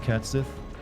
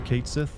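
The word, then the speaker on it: Cait Sith: Japanese pronounce it or that's how the Scottish pronounce it for wor because it's a origin name way you said it is correct cat Sith or Kat Sith I mean I'm glad I got one of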